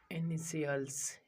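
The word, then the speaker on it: initials: तो किसी शब्द में टी के बाद आई ए, आई ई, आई ओ आदि का वर्ण दे रखे हो तो टी की ध्वनि स हो जाती है।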